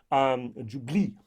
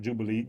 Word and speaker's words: Jupille: Jupille, not Jubilee, Jupille finish. And even that's probably wrongly pronounced.